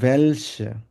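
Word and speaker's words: welche: বলবো ভেয়া তারপর হচ্ছে ভেলসে ভেলসে হচ্ছে কোনটা হ্যাঁ এটা যেহেতু ডব্লিউ এটাকে আমরা ভে এর মধ্যে উচ্চারণ করবো ভ্যালসে মানে হচ্ছে কোনটা অথবা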